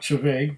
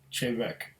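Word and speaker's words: Té Bheag: Chavek, or not Chaveg, but Chavek. At least that's what it says on the label.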